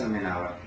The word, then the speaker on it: Almenábar: Almenábar. Gracias. Con acento en la A del medio.